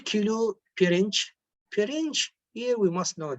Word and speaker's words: pirinç: The rice the rice before cooking will be pirinç, pirinç, the right pronunciation to it, pirinç.